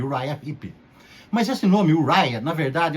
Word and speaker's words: Uriah Heep: para exemplo u hip durante muito tempo eu achava que o nome dessa banda era yuria hip recentemente eu descobri que a pronúncia certa é uraya mas Há controvérsias assim como eu falei